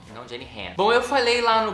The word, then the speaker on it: Jenny Han: para todos os garotos que já amei da Jenny H, já pesquisei como é que pronuncia e é Jenny H, não, Jenny Han.